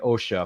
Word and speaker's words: Osha: relationship between the two sisters uh May and OSHA if I'm saying that right please excuse me if I mispronounced that no you got it may anosha